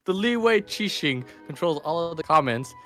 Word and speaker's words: Liyue: right first of all how do you say that quotations is that question I don't know quiching away leeway leeway yes cushion bed Cushing um